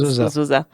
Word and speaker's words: Uzoza: time, they're like, oh, Uzoza. But most people are like, Uzo, how far? I'm like, Uzo from where to where? Okay. Uzoza. Yeah, it means Uzoza. Beauty. It means beauty. It's Uzoza.